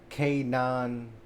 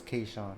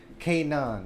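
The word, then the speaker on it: K'naan: wake up it's featuring K9 I think that's how you pronounce that like the battle rap but K9 oh it's k no no my fault it's kaan I was thinking about kshan my fault anyways Kanan that's what it's called that's his name I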